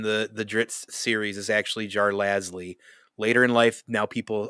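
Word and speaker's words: Jarlaxle: My favorite character in the Dritz series is actually Jar Lasley. Later in life, now people apparently try to call it Jar Axel, but I can't see it in my head.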